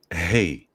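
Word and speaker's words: ה: this form wow and you pronounce it hey like hey like you say hey right yeah and when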